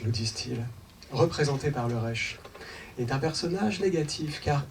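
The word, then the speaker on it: ריש: Alors, dans l'alphabet hébraïque, la lettre R se dit Resh. Elle s'écrit avec une barre horizontale et une barre verticale, un peu comme le début d'un rectangle.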